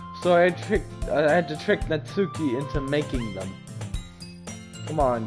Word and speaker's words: Natsuki: So, apparently, I was pronouncing her name wrong. I think her name is Natsuki. I think that's how you pronounce it. Not Natsuki. But I was saying Natsuki the whole time, but I'm pretty sure it's Natsuki. So that's just for your information.